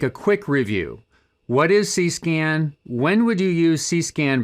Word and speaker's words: CsCAN: control station can and it's pronounced just like i'm saying it c-scan it's a horner network